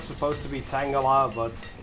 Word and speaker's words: Tangela: So apparently we have a Pokemon in spring year 37 become a laborer, Tangela. I know it's supposed to be Tangela, but it's so close to the Pokemon that I just have to make fun of it.